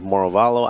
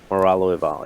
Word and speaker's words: Moralo Eval: And so I do like the idea of Moravalo. I'm a big fan of Moravalo. I actually never played Moralo Eval. Is that how you say it? Moralo. Moralo Eval, yeah.